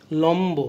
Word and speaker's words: লম্ব: তাহলে ব উচ্চারিত হচ্ছে, লম্ব ময়ের সাথে আছে তাহলে বয়ের উচ্চারণ বজায় থাকছে।